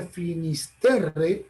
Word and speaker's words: Finisterre: la llamaban los romanos, en latín se pronuncia Finisterre, en galego, en el idioma de Galicia, le llaman Finsterra.